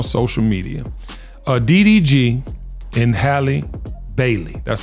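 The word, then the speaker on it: Halle Bailey: I saw on social media uh ddg and Hy Bailey that's how you say her name I love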